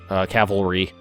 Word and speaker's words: cavalry: But I added on artillery and AA brigades, some cavalry to cavalry. I always pronounce that wrong.